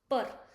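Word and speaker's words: peur: So afraid is nothing but p e u r pur. The sound of eu will be like and p eu. So it become pur and this is r it become per means afraid.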